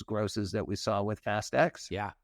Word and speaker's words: Fast X: Is it Fast X or Fast 10? I'm going Fast X. I've been told that's kind of the way to go.